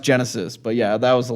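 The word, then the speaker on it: Genisys: It's pronounced Genesis, but yeah, that was the last one.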